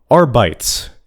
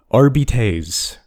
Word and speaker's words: Arbites: First things first, and this is very important, it is not Arbites. It's pronounced Arbites. I know Games Workshop says it's Arbites, but they're British, and just wrong. That's not how Latin pronunciation works.